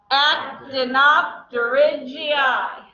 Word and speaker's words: actinopterygii: Act in opt ridge EI. Everybody ready? Here we go. 3, 2, 1. Act in opt ridge EI. Okay. Looks nothing like it's spelled. I don't make this stuff up.